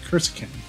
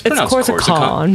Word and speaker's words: Korsakon: make an attack against Kurskin with the morning star. It's Korsakon. Korsakon. Korsakon. You're going to attack me. At least say my name right.